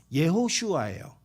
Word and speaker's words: 예호슈아: 멍청이들이라는 거예요 근데 여러분 원래 예수라는 이름은 히브리어로 무슨 무슨 발음이냐면 예호슈아예요 누구냐면 여호수아 그 이름의